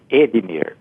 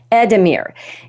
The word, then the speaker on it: Edemir: our listeners can you tell me how to pronounce your name yes edmir edmir that's yes that's what I have been saying